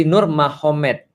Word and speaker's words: Nurmagomedov: sana Muhammad jadi mahomed jadi tulisnya magomed Tapi bacanya mahomed kan gitu kan Ya jadi Nur magomedov itu jadi Nur mahomed Jadi maksudnya Nur Muhammad